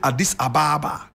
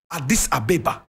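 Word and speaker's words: Addis Ababa: born in Adis Abba you would call it Adis Ababa correct pronunciation ad this ABA the beautiful flower my brother my sister he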